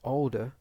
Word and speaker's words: older: But now this word older is two syllables, and we need to make sure that we stress the first syllable and we don't stress the second syllable.